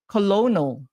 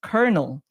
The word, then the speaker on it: colonel: It's actually pronounced colonel but it's spelled c o l o n e l.